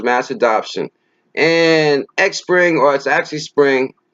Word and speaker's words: Xpring: adoption and exports actually spring X is silent i ce o--'s have